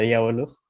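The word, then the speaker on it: διάβολος: Pero bueno, básicamente diablo en griego se pronuncia diabolos y se escribe así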